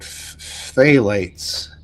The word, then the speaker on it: phthalates: What do you guys know about phthalates?